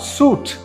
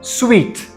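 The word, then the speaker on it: suite: services or things so this is not suit what sweet an entrepreneur is a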